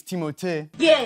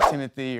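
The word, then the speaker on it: Timothée: kindgarten twice well uh honestly it's timot but I would not oblige you to say it like that and it could be Timothy or Timmy or Doug or Alan it's timot that's what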